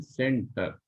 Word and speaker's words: centre: Spelling देखते हैं आपको, CENTRE, लेकिन पढ़ते इसको ऐसे हैं सेंटर।